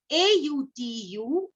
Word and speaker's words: autumn: So we say it, N is silent. Then next word is A-U-T-U-M-N, autumn.